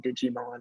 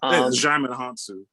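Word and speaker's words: Djimon Hounsou: want to call him Digimon. I really don't, because I just don't know how to say it. Oh, you talking about Jaimon Hansu. Yeah. Jaimon Hansu. Okay, I almost said Digimon.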